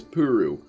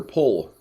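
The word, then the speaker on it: Ple: the other one was puru or pole actually is a more accurate pronunciation of her name but they went with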